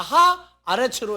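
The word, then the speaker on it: הָאָרֶץ: 근데 에레츠 하면은 발음이 안 되니까 하, 아레츠로 해서 이 아 발음을 밀어냈어요, 뒤로 똑같이. 그래서 다 같이 하, 아레츠.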